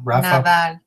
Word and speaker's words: Nadal: Nadal.